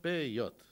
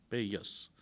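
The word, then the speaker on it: פאות: Пейот. Да? Пейот. То есть нужно оставлять края. Пейот – это в идишском варианте произношения, да, пейсы, пейос.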